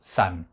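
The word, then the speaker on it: 三: Et nous le prononçons san. Alors, juste un aparté comme ça, hein. C'est la même prononciation que tout à l'heure quand je vous ai parlé du volcan, Kazan, Kasan. Mais là c'est san pour le 3.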